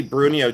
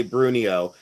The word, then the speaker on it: Bruneau: And like I said, I probably say it wrong, but I always say Bruno. B R U N E A U. Bruno.